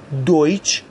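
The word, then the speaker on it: Deutsch: TSC ها یا در واقع همون TSCH انگلیسی هست که این ترکیب همیشه ش تلفظ میشه. از جمله در کلمه دویچ به معنی آلمانی.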